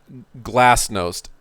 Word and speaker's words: glasnost: be glassed most G glass nosed GLA s t n OST I think is it's either glasses most its GLA SN OST glass dosed I think is how it's pronounced and glasnost was about